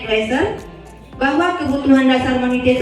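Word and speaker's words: Glasser: atau lima lima menurut Dr William gler yaitu bacanya gler Bahwa kebutuhan dasar Mania itu ada lima Yang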